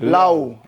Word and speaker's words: Laoe: Kristoff pronounce the last one. Lao.